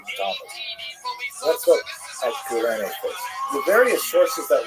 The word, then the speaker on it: Cyrene: I've looked it up and I've heard it pronounced as Cyrene in English. In Greek, it would have been something like Kurene. So I'm probably going to say Kurene, and I would be wrong,